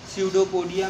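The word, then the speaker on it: pseudopodia: यहाँ पे भी पी साइलेंट होता है, जैसे स्यूडोपोडिया में हम पी साइलेंट करते हैं, उसी तरीके से टेरिडोफाइट्स में पी साइलेंट होता है।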